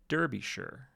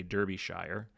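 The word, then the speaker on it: Derbyshire: you know in the in the states we would say derby shire but I knew that you guys over there on the other side of the Atlantic um the word shire is more like sure or something.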